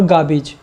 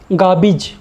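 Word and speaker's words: garbage: चीज़ ज़रूर ऑब्ज़र्व करना, ये गारबेज नहीं है, इट इज़ नॉट गारबेज, गारबेज नहीं है, ये है गाबिज। बिज है वो, ब छोटा ई ज, बिज।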